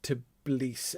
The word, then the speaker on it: Tbilisi: I've never known how to pronounce that city. Tbilisi. Anyway, however you pronounce that Georgian city, published in 1934. Tbilisi. So it's Tbilisi. Okay, great. So I did it more or less correctly.